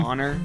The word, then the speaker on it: Zauner: Honestly, she had a solo project, Michelle Zauner. I don't know if that's how you pronounce it. Is that her name? Zauner.